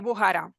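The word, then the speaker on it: Bujará: contado Hugo sí la la la cach la pronuncian J no bujara y jba sería No sí es bujara bujara sí correcto vale e y bueno al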